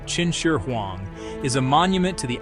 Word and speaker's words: Qin Shi Huang: The tomb of Qin Shi Huang, pronounced Qin Shi Huang, is a monument to the outer limits of human ambition and ingenuity.